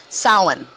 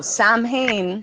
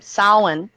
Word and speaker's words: Samhain: to kind of start leading into so Samhain Salin um it's it's spelled s-a-m-h-a-i-n but the pronunciation is solid and